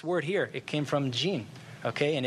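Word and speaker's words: jinn: the gene okay you the Arabic pronunciation is gene and its guess what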